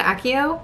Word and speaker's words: Accio: Don't like that pronunciation. Axio. What do you guys pronounce it as? I always said Accio, because the movies. Accio, I don't like, because it sounds like ass.